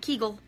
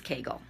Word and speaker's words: Kegel: at least you've learned how now to pronounce Kegel properly okay it's not Kegel it's Kegel okay bye guys